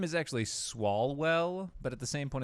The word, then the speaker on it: Swalwell: Because if you go, it's not Swalwell, you have to say it slowly to get it right. Mm-hmm. If you say it fast, it's Erica Swallowell, and then you're like, oh, that's not right.